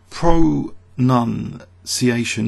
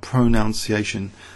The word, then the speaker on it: pronunciation: the you know the the verb to pronounce is you know n o u n but pronunciation is p r o n u n and that was picked